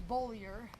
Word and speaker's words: Beaulieu: learn Who I am it takes them a couple of months to actually pronounce my name correctly it's bolier but you know if